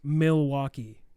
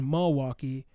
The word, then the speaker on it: Milwaukee: in the state as milwaukee but actually if you want to know from a historian's perspective it's actually only two syllables like i'm kissing you